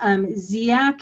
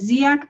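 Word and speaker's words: Dziak: from the methodology center the first author is ziac and the paper is ziac at all it's spelled d-z-i-a-k it's in i believe structural equation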